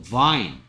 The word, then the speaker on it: vine: P나 F처럼 발음하고 있어요, 지금. Fine도 아니고요. Pine도 아니고요. Fine도 아니고, Vine. 윗니가 아래 입술을 스치면서 V 합니다.